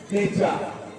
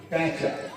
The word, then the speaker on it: পেঁচা: আসা বেশ কিছু জায়গায় উচ্চারণ অনেকেই পেঁচা নট প্যাচা এরকম ছোটখাটো ফুল ছিল আর